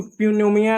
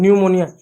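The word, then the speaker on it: pneumonia: इसको प्यूमोनिया नहीं बोलेंगे। निमोनिया पी साइलेंट होगा।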